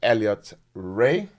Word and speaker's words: Elliott Rae: guest in the studio this week is Mr Elliot Ray did I get the pronunciation right yeah pretty easy name to say